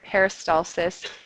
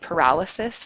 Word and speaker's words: peristalsis: is something called peristalsis peristalsis is a word that people mispronounce with high-frequency when they speak it out loud if you were going to say use the word peristalsis in an assignment please pronounce it correctly you might have noticed I don't know if any of you picked this up in one of those samples I played you they said paralysis instead of peristalsis which changes